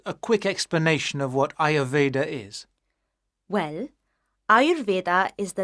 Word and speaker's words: Ayurveda: No, you write it like that, but in English you pronounce it Ayurveda.